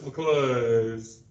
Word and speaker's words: McClure's: You didn't say it right. It's McClure's.